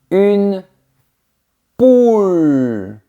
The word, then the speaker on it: poule: C'est différent si je dis une poule. C'est l'animal. On a le son ou une poule.